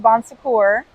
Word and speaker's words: Bon Secours: Our Lady of Bon Secours.